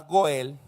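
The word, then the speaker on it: גֹּאֵל: en en su etimología la palabra goel que es como se pronuncia significa rescatar liberar presentar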